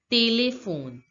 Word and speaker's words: téléphone: This accent here, accent acute, changes the pronunciation of the English word telephone. The pronunciation in French becomes téléphone, téléphone, téléphone, téléphone.